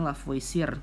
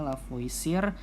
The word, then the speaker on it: Lavoisier: ya ada hukumnya si lavoce ya bisa Tulisannya lavoisier tapi karena di orang Perancis namanya lavase ya